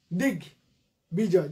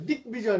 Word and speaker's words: দিগ্বিজয়: সব কটা গ কিন্তু সন্ধিজাত গ, ক থেকে গ হয়েছে, ফলে উচ্চারণ দেখো দিগ্বিজয় কি হবে, দিক বিজয়। দিক ওই যে দিগ বিজয়, দিক বিজয় না, দিগ বিজয়।